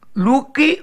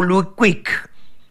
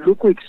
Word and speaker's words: Luquic: Pero hoy estamos en contacto con Nicolás Luque o Luquic. ¿Cómo te va? Buenas noches. Buenas noches. La segunda fue mejor, así la pronunciación. Luquic.